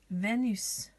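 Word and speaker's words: Vénus: Can you see the little accent on the E, the little line? Venus, Venus, Venus.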